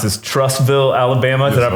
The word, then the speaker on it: Trussville: So you're from, and don't let me mispronounce this, Trussville, Alabama.